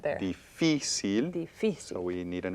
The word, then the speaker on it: difícil: Y difícil. Difícil. Again, 3 syllables.